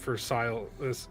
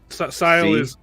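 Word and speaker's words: Syl: Sile is it Sile? Is it? I pronounce it Sil.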